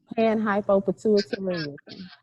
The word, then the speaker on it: Panhypopituitarism: We got to put that down there on the screen so others can know how to pronounce it properly. Yes. Chikeitha, help me out there. Panhypopituitarism.